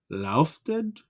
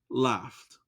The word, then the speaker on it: laughed: Comment on a prononcé mot ça? Non, j'en l'écris. Laufted?